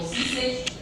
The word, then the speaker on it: Žižek: La pronunciación de los eslovenos está un poco compleja, pero bueno, se llama Žižek o Zizek.